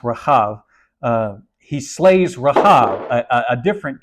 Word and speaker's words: Rahab: It's spelled the same in English. There's like a little tiny mark that creates all the difference in Hebrew. It is pronounced Rahab.